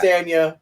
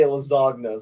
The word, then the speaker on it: Castagna: Castagna, but I always say Lasagna, so I'm going to be a little consistent until someone Yeah. like yells at me. It's Castagna.